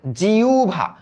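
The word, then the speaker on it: জিহ্বা: হ আর ব। এই যুক্ত ব্যঞ্জনের আগে যদি একটা রসই যুক্ত ধ্বনি আমরা দেখি। রসয় যুক্ত ধ্বনি আমরা যদি দেখি তবে একটু মনে রাখতে হবে এই হ এর উচ্চারণটা হয়ে যাবে উ এর মত এবং ব এর উচ্চারণটা হয়ে যাবে ভ এর মত তাহলে এটার উচ্চারিত রূপ কি হবে জিউভা জি উভা তাহলে দাও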